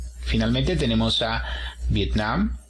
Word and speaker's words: Vietnam: sílabas finalmente tenemos a viet nam y en cuanto a país decimos vietnam el acento se encuentra en la última sílaba vietnam en cuanto a